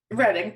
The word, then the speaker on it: Reading: See, this is why I mispronounce things. Reading, but that's what you said the first time.